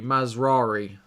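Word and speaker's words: Mazraoui: over that run so you pronounce Ma RI like Ferrari mazari oh got it mazari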